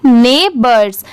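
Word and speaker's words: neighbors: एस हिज यह है नेबर्स इसे क्या पढ़ेंगे ने बर्ड्स इसकी स्पेलिंग भी आप याद कर लीजिए यह भी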